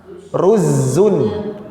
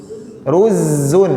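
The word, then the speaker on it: رُزّ: Arabnya nasi itu apa ruzun ruzun ruzzun Ulangi Pak ruz karena bahasa Arab ini pengucapannya harus benar ruzun ruzzunun ruzun Run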